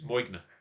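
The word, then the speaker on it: Moine: uh newborn Havana yeah with no g in it yes it has an invisible not a silent G and invisible G m-o-i-n-e so it's moign yeah all right this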